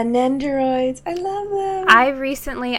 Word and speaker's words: Nendoroid: then both smashing me are the nindroids fat how you pronounce it yeah nendoroid I love it I